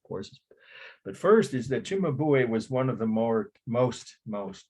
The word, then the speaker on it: Cimabue: Cimabue. That would pronounce it like CH. CIMABUE.